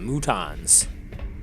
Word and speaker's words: Mutons: We got some of the big guys, the Mutons, which rhyme with croutons.